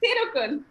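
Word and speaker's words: Thirukkural: practiced it almost like 100 times to even pronounce it currently which is thirukul okay and tillaga has been beating me hard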